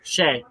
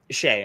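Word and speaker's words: Skjei: and then they got Brady skedge I'm not gonna I don't know how to pronounce that name either Shay yeah Shay okay um from Carolina um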